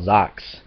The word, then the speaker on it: Zack: supposed to have and Zach kind of the same because he has black and spikyish hair Zach or Zacks as they pronounce it in Japanese and the wife um